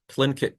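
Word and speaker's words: Tlingit: Expedition did actually meet the Clint the sorry say it right clink kit people that John Bros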